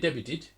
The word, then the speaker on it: debuted: Debuted. Well, no, there should be, ideally, there would be nothing there. D-E-B-U-E-D, pronounce it debuted. The T is silent.